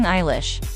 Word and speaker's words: Eilish: Understanding Eilish, however, entails more than just knowing that her middle name, which she uses as a stage surname, is pronounced like Eyelash with a lish.